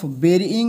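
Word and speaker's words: burying: এবং আমি ভেবেছি অফ বেরিং হিম তাকে কবর দেওয়ার জন্য এর উচ্চারণটা হবে বেরি ঠিক আছে বারির মতো লেখা হয় কিন্তু উচ্চারণটা হয় বেরি বেরিং হিম তাকে কবর দেওয়ার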